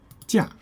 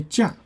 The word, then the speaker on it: 假: Okay, and another meaning of this character with a different pronunciation is 假. Okay, when you say 假, that means holiday, vacation.